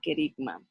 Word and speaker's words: kerigma: con ustedes aquí lo tengo así así se pronuncia la palabra kerigma vamos a leer el concepto kerigma ok eeuu